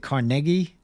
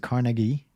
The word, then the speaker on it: Carnegie: Mr Carnegie and actually is it Carnegie or Carnegie I've heard people pronounce it carnegi I think he Andrew carnegi pronounced it carnegi as well which I can't quite get used to but Mr rockefeller's position